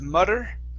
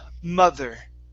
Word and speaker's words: mother: first up we have the word mother instead of mutter it's ma mother mother good make sure that you're pronouncing that th okay we had we